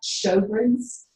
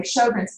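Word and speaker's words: Sjögren's: And this autoimmune disease is called Sjogren's. It's Swedish, so it's Sjogren'. It was a physician who first identified this, but it's pronounced show, like a Broadway show, and grin, like you grin. But anyway, Sjogren's, it's a fairly common autoimmune disease.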